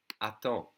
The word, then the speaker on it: attends: Wait in an informal way would be attends, attends. Okay? And in a formal way would be attendez, or plural. Attends. The D and the S are silent.